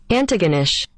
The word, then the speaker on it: Antigonish: your pronunciation as well I think it's antagonish but oh it is that sounds right here is Google's pronouncer of it Antigonish oh okay nice and quick Antigonish which I think is how I said it yeah um now some